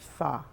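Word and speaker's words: phở: soup and it's p ho o and it's pronounced fa and we pronounced it so many different ways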